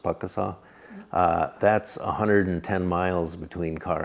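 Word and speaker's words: Pukaskwa: They have it looks like Puckasqua, but it's pronounced Puckasaw.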